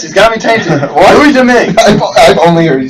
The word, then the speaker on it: Domingue: Louis Dominique. Isn't it Domingue? Domingue. I don't know why I'm saying Dominique. Domingue. He says Louis Dominique. Domingue. Yes, he's got me tainted. What? Louis Domingue.